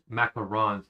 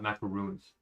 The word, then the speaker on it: macaron: One for the macarons and it is pronounced macarons, not macaroons.